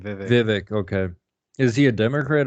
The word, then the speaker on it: Vivek: who are you just talking I can't even pronounce his name but I know just do say Vivek that's his first name Vivek okay is he a Democrat or Republican he's